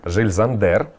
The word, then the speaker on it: Jil Sander: как вы видите например жиль зандер правильно произносить название именно так офигенно я вот такая